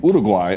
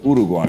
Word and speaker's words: Uruguay: Repeating how native speakers say the name of their own country is not a problem. It's actually the way we should do things.